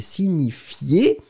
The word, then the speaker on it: signifie: Le verbe, c'est signifier. Verbe du premier groupe, hein, régulier. Un petit peu difficile à prononcer, le ni ni ni ni, si ni ni ni signifie.